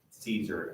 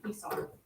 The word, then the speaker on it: Caesar: Oh, like AE, these two vowels make what's called a diphthong, and it has an I sound like Kaiser, unless you're church Latin, then you say it like A.